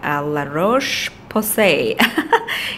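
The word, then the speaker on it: La Roche-Posay: It is the La-Roche Posay. If I'm pronouncing the brand correctly, it is actually made in France.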